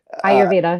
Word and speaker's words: Ayurveda: And and in Ayurveda I think I'm pronouncing Ayurveda. Right. Ayurveda.